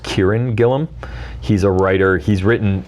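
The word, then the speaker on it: Kieron Gillen: example is I think his name is pronounced Kieran Gilliam he's a writer he's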